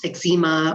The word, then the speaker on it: eczema: into the rosacea potentially the eczema or eczema depending how you say it psoriasis that type